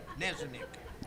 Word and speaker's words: Nanik: Nanik. The K is silent.